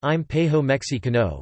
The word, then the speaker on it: Imperio Mexicano: The Mexican Empire, Spanish, Imperio Mexicano, pronounced Impejo Mexicano, was a short-lived monarchy, and the first independent post-colonial imperial state in Mexico.